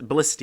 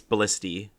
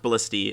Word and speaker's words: Ballista: Lynn is almost killed by a Ballista B ballista yeah I used to think it was pronounced Ballista uh but apparently it's ballisty um as per Fire Emblem Warriors which I'll